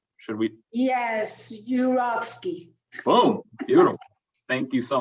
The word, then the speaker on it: Yurovsky: another do you want to take another try pronouncing my last name should we yes yurovsky boom beautiful thank you so much no thank